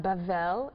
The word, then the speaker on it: Babel: Um Babel Babel pronounced Bavl in Hebrew is Babylon.